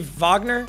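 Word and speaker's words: Wagner: got Kyrie Jamal Murray is it Vagner he's German right so which should technically be Vagner I can't go the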